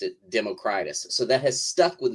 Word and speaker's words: Democritus: probably pronounced Democritus because that's how we pronounce like old Latin or Greek or whatever names in English but uh you wrote